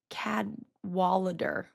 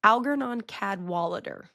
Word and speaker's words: Algernon Cadwallader: Cad Wallader. Cad Wallader. Algarnon Cadwalader, I think is actually how you pronounce it.